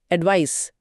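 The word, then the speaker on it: advice: यह एक नाउन यानी संज्ञा है और इसके उच्चारण पर भी ध्यान दें। यह स की ध्वनि के साथ खत्म होता है। एडवाइस एडवाइस इसका मतलब है an opinion offered as a guide यानी सलाह।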